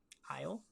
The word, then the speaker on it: Isle: Isle, like an island.